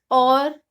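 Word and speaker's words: hour: Silent रहता है, like और, ऑनर, ऑनेस्ट। इसमें वॉवल से पहले यानी ओ से पहले एच आ रहा है तो हम एच को साइलेंट रखेंगे, हॉर नहीं बोलेंगे, और बोलेंगे।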